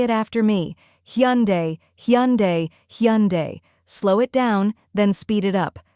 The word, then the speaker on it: Hyundai: with a soft U almost like saying hon followed by a simple day let's practice together say it after me hund hyund hunde slow it down then